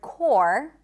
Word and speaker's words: corps: And then also the word core, the PS at the end, gone. Core, core, core, like the Marine Corps, core.